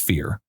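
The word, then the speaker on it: Fyr: moment which is a fee it's it's actually pronounced fear but it's spelled f yr so a fear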